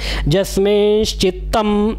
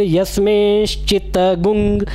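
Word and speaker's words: यस्मिंश्चित्तम्: जस्मिंश्चित्तम ऐसे पढ़िए, या फिर यस्मिंश्चित्तगुंग, माँ को आप ग्वंग भी पढ़ सकते हैं और माँ को आप चित्तम ऐसे माँ के उच्चारण में भी हलंत के साथ कर सकते हैं। और कई जगह जो है यस्मिन लिखा हुआ है, य लिखा है, हम उसको ज पढ़ते हैं। तो वैदिक उच्चारण में कई बार हम य को ज भी पढ़ते हैं।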